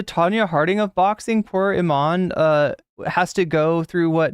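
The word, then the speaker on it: Imane: They both have headgear, and Iman is how you pronounce it.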